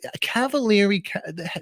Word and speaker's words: Cavaliere: How do you say Cavaliere?